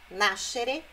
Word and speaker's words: nascere: É a sílaba anterior a esse final, xerê. Ó, conoscere é o no, nascere, crescere. Não é conoscere, nascere e crescere.